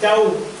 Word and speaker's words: tau: T, tau. In Greek, T is pronounced tau. When you pronounce the alphabet, you pronounce it as tau.